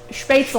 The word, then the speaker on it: Spätzle: People say spätzle. Spätzle. They say spätzle, and it drives me So bad. say it the correct way. Spätzle. Spätzle? Spätzle. Spätzle. It's L-E, not E-L.